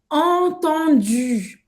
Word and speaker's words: entendu: Esse U no final vai ter uma pronúncia de biquinho mesmo. Você vai fazer a boca do U e falar I. U. E ele falou U. Cuidado, isso é um erro frequente dos brasileiros falando francês. Entendu e não entendu. Entendu. Biquinho. U faz a boca do U e e fala fala I.